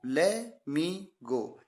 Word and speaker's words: let: ले मी गो यानी टी को साइलेंट कर देते हैं।